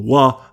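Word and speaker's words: は: Similarly, some teachers' books, courses and websites write the particle wa as ha, ha in Romaji in example sentences, which can be very confusing at first.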